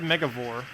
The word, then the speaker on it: Megavore: I said Megavore. I don't know, did I say it kind of weirdly? It's Mega and then Vor.